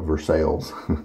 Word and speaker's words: Versailles: so smooth Versailles and there's a town in Kentucky I believe and their town is spelled like this but they call it Versailles it's kind of funny